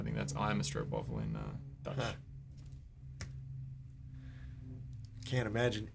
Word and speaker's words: stroopwafel: Stroopwafel. That's how you say it.